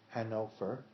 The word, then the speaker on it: Hannover: One parent was from Hanover, Germany, which is pronounced Hannover in German, and the other parent was from Hamburg, which is spelled in English like Hamburg and pronounced Hamburg.